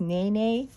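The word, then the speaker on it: Nēnē: I think it's pronounced Nene.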